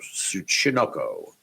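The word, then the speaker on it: ツチノコ: It's TSUCHINOKO. So Tsuchinoko. There it is. I always have trouble with the TS.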